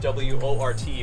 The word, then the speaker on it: wort: liquid right now is what's called the wort it's spelled w-o-r-t but it's pronounced wort um it's basically just